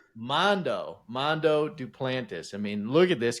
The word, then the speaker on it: Mondo Duplantis: Mondo Duplantis. Mondo Duplantis.